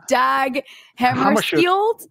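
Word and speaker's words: Dag Hammarskjöld: swedish u.n secretary general whose name i'm about to butcher because i can't pronounce i it's dag hammer shield okay that what you just said yeah yeah yes so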